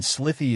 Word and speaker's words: slithy: The I in slithy is long, as in writhe, and toves is pronounced so as to rhyme with groves.